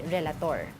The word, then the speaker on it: Relator: Joining us on the line is Parents Against Vape President Reby Relator. Yun. Did I yes, Reby pronounce Relator.